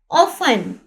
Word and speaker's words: often: ऑफन, यहाँ पे ये देखिए ऑफन में टी यहाँ पर साइलेंट है, ऑफन कहते हैं अक्सर। ठीक है, यहाँ पर OFTEN, टी राइट तो होगा, लेकिन यहाँ पे इसकी साउंड या प्रोनाउंस ये नहीं होगा।